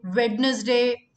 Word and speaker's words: Wednesday: Monday, Tuesday, Wednesday, Wednesday, Wednesday. The D is silent here.